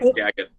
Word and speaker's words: Skagit: Not the Skagit. There we go. Skagit. How do you say it? Is it Skagit? Skagit, right?